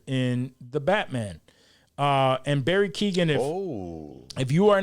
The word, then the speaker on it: Keoghan: Yeah, it's Keoghan. Yeah, okay, Keoghan. It's spelled in a very weird way. Yeah, it is. It's a weird Irish way. Barry Keoghan is the Joker in the Batman. And Barry Keoghan, if you are not familiar with who Barry